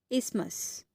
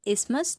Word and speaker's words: isthmus: हम क्या बोलते हैं, इसको हम बोलते हैं इस्मस। स्पेलिंग है ISTHMUS, इस्मस, TH उसमें साइलेंट है, तो ये आप याद रखेंगे।